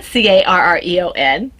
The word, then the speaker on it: Carreon: It's spelled differently. I said Carreon.